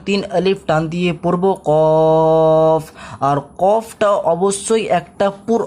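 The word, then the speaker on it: ق: তিন দেওয়া রয়েছে তার জন্য তিন আলিফ টান দিয়ে পড়বো কফ।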